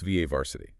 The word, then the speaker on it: VA varsity: And that's pronounced VA varsity.